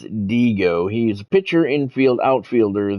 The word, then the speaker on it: Dihigo: saying his name right it looks like Diego but I think the proper way to say it is diigo he's a pitcher infield